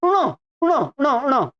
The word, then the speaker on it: ण: ण ण ण ण इसका भी बहुत अशुद्ध करते हैं लोग ठीक है [नाक से की जाने वाली आवाज़] इसका शुद्ध उच्चारण होता है ण ण ण ण प्राय करके लोग इसमें अ जोड़ते हैं ण ण ण ण